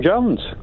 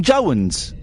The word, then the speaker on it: Jones: I I did Tom Jones. You're not saying Jo. You're saying Tom Jo. Tom Say again. Tom Jones. Tom Joans. Tom Jones. Joan. You're saying Joan. You'll make You've made Jones into two syllables.